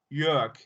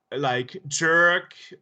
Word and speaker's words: Jörg: Like, wait a second, it's Jörg. And, you know, most English-speaking people pronounce it wrong, like jerk or George or something.